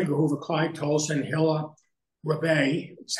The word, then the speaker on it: Hilla Rebay: Edgar Hoover, Clyde Tolson, Hilla Rebay, is how you say it.